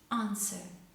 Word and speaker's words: answer: so in words like answer we have a w in the middle of the word but it is not pronounced answer awful sword this is